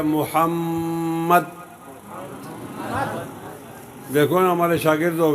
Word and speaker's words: محمد: صاحب کہتے ہیں کہ محمد کا جو دوسرا میم ہے اس پر ٹھہرنا ہوگا، اس کا صحیح تلفظ یہ ہے محمد۔ دیکھو نا ہمارے شاگرد